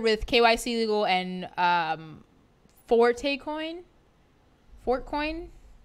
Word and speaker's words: Forte: kyc to go and Forte coin for coins do you pronounce the e yeah Forte Forte anyways so they are